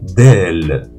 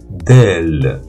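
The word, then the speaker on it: دال: la première ici c'est la lettre d'elle d'elle delelle c'est un D comme en français la deuxème c'est la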